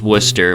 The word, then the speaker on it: Worcester: anyway my day in Worcester yes this is pronounced Worcester Massachusetts what do you on begins on franchis